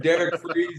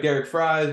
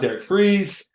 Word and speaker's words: Derek Fries: his name is Mr Derek freeze I know it looks like Derek fries but it's it's pronounced Derek freeze uh like Mr Freeze over there uh Derek